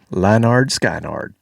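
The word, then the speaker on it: Lynyrd Skynyrd: Lannard Skynard. That's how it's pronounced.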